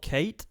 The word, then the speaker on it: Caet: It's called Kate, and it's it's spelled Caet.